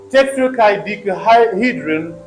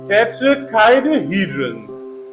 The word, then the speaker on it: tetrahedron: Another example, in tetrahedron, the first syllable and the third syllables have secondary stresses, and the sixth syllable, that is second last syllable, has the primary stress. See, now we have two secondary stresses. And first syllable tetra, and in third syllable chi. But the main stress is on sixth syllable he.